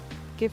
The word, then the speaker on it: GIF: GIF is pronounced GIF because you want it to be funny and say it like the peanut butter.